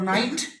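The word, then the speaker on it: knight: Letter है, नी घुटने के लेटर है, और नाइट योद्धा के लेटर देखो है ना, तो और के साइलेंट है।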